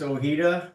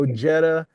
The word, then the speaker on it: Ojeda: So, so this is Alex Ojeda. That's how you pronounce your name, right?